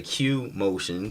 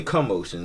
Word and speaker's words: Q'moshyn: video so it's like some people mispronounce my name they'll say cue motion so it's like Oh cute motion like how do you pronounce it is really commotion like come on I